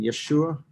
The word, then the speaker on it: Yeshua: mentioned it's same name we just have come to pronounce it jesus rather than yeshua which is what the hebrew would have said and but it's exactly